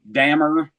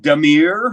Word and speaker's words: Dahmer: No one was ever able, when I was a kid, to pronounce our last name right. It was Mm. Dahmer. Are you French? Is it Damir or whatever? And then one morning we all woke up and turned on the news, and all of a sudden it's our name and everyone pronouncing it perfectly all over every channel one morning when they caught him.